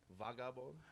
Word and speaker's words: Vagabon: Oh man, so Vagabon is it's actually pronounced Vagabon. Okay, how do you pronounce it? Vagabon. Vagabon. Okay. It's Haitian Creole for hoodlum.